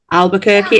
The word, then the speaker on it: Albuquerque: Coming up in Albuquerque. Is it Is it pronounced Albuquerque?